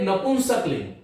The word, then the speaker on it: नपुंसक लिंग: एक है स्त्रीलिंग जो स्त्री का वाचक है, और एक नपुंसक लिंग। नपुंसक लिंग। तो इसका उच्चारण है नपुंसक लिंग, नपुंसकलिंग नहीं है ये, नपुंसक, नपुंसक जो पुंसक नहीं है।